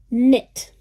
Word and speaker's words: knit: Knit. Here the K is mute.